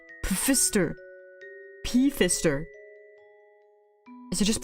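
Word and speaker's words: Pfister: For One what's that oh pH is pronounced as an F no it's PF it's the word Fister but there's a p in front of it Fister rainbow fish who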